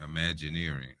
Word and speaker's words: Imagineering: imagine imagining in being we just put the earring on it imagine imagine earring Imagineering okay so in Imagineering that